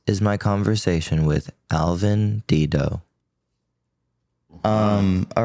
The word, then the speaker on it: Dedeaux: It could be Dedo. It could be Dudd Do, but you know, it's kind of like in Texas we like to mispronounce things and so that's how we pronounce it in Texas.